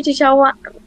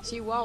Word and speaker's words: Chihuahua: How do you say Chichawa? Chichawa? Chihuahua? Oh, the little dog. And Chihuahua.